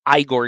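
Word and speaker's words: Ygor: including Victoria Frankenstein's servant I'm going to assume it's Igor because it's spelled with a Y it's y g o r uh the Invisible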